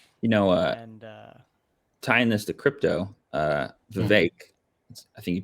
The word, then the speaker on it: Vivek: think you pronounce it Vivek. Vivek. I think it's Vivek. No, I think it's Vivek. Yeah, I'm pretty sure it's Vivek. It rhymes with cake. He said that. The E makes an A.